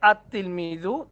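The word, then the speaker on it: التلميذ: যেমন তিলমিজুন আতলমিজু উচ্চারণটা হবে আতলমিজু।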